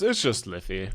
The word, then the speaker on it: Lythi: Is it Lythi or how do I say the full? It's just Lithi. Lithiara is kind of the long form, but it's not really used at all.